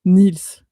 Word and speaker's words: Niels: Bon déjà est-ce que ça se prononce bien Nils ? C'est ça exactement le E est mué mais on dit le S. On prononce le S.